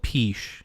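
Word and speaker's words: Peche Island: maybe i don't know how do you spell it p-e-c-h-e and then island um oh i think i've heard of this i think i've called it peach i didn't know yeah yeah it's called peach you know like okay um where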